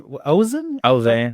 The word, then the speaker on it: Ozan: So you like fishing and you like doing that in Ozan? Ozan. How do you spell that? Ozan. Ozan. So like Ozark, except with an N.